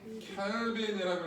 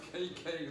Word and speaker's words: 켈빈: K라고 쓰고 뭐라 읽어? 켈빈이라고 읽으세요. 제발 KK 그러지 말고 5000K, 6000K 막 그렇게들 읽어요.